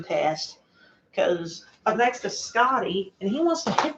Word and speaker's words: Skadi: And this is like a destruction test, because up next is Scotty, and he wants to hit the back of the test bot. And yeah, that's spelled Skadi.